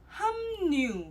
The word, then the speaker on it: 합류: 합류. 합류 is pronounced as 함류.